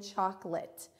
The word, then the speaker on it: chocolate: in plate, and then that short I sound that chocolate makes in the A-T-E at the end.